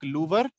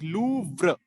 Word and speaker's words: Louvre: That's how you pronounce. You don't pronounce it like Louvre. You pronounce it like Louvre. Yes. So you have to be really fast with vr.